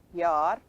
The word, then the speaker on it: Jahr: Okay, in German it is written this way, but it's pronounced Yar, and from that you get ear in English.